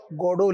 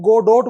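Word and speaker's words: Godot: गोडोट बोलते हैं आप उसको जी ओ डी ओ टी होता है स्पेलिंग। लेकिन क्या बोलते हैं उसको? गडो। गॉड से बना है।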